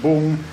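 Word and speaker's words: Vũng: of these days it's spelled vu ng but pronounced boom and tau tau which is like a seaside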